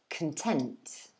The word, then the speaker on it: content: that the second part the second syllable is stressed this time not the first also notice that the o from content the previous word is no longer an o it's actually a schwa so it's pronounced so this word would be content content okay so the previous one content this one content do you hear the